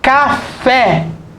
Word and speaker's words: café: Café. Café. Café. A sílaba tônica é o fé. É uma oxítona.